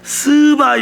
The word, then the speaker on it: 스바: 발음을 잘해야 돼요. 발음을 잘해야 돼. 스바 여왕이에요. 예, 스바, 이거 잘해야 돼.